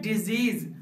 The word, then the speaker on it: disease: पहला वर्ड जिसका स्पेलिंग है DISEASE, इस वर्ड का साउंड होता है डिजीज और इस वर्ड का मतलब होता है बीमारी।